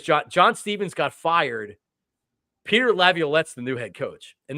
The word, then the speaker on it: Laviolette: And I said Laviolette's name wrong.